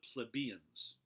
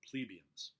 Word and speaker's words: plebeians: These people were called the plebes, the plebeians, or plebeians. I've heard it pronounced both ways. Plebeians or plebeians. Plebians.